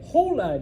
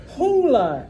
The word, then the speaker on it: hola: I'm not going to say hola, Jack. Hola, Emma. No, it's just hola. Hola. You pretend it's not there. Okay. The next class I'm teaching after you guys is not history, it's okay. No H.